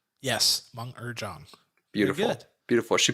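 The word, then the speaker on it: Meng'er Zhang: I looked up the pronunciation because I absolutely butchered our lead character. Let's hope I get this right. Mung Mung Zhang. Yes, Meng Erjong.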